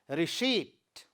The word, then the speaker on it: receipt: Similarly, in the next word, again pa letter is silent in the word receipt.